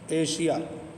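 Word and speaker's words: Asia: किसी लफ्ज में एस या डबल एस के बाद आई ए अब समझे एस हो या फिर डबल एस हो उसके बाद आई ए या आई ओ हो तो एस का तलफज़ बसाकात जा और वसाकात श होता है। कभी बड़ा श बन जाता है।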